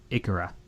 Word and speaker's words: Ikaria: Most recently, Marcus ran a longevity retreat to the Greek island of Ikaria. Ikaria? Is that how you say it, Mark? Ikaria.